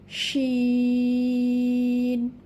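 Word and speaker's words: شين: তাহলে এখানে 4 আলিফ টেনে আমরা এর নাম পড়ব, এই হরফের নাম 4 আলিফ টেনে পড়ব, শিন।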